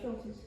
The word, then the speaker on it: Schultes: Now later in the book, there's, I may be mispronouncing Professor Schultes. No, that's right, Schultes.